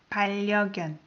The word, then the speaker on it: 반려견: 반려견, as you noticed, when I pronounced N of the first syllable, I pronounce it as R because the following syllable starts with R. So you're going to say 반려견.